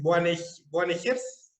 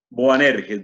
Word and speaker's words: Boanerges: Es Boanegers, ¿así? Boanerges, Boanerges. Boanerges.